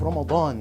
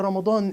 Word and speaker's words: Ramadan: in the month of Ramadan I'm going to pronounce it correctly Ramadan not Ramadan Ramadan and in Ramadan